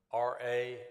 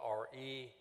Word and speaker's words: Ra: Ramses, as John Michael mentioned, the word R-A is sometimes spelled R-E, usually pronounced Ra or Re.